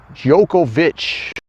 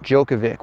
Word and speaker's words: Djokovic: Actually, the way it's supposed to be pronounced is Jookovich. You're putting me on. Not Djokovic, which is what I've been doing since 2006 or 2007.